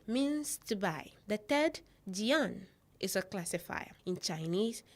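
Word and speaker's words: 件: The first character here is pronounced yifu, meaning clothing. The second, mai, means to buy. The third, jian, is a classifier.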